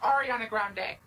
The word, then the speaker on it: Ariana Grande: Lady Gaga or D Taylor Swift um is Ariana Grande Ariana Grande is wrong it's pronounced Ariana Grande Right Ariana Grande it's wrong Cody you can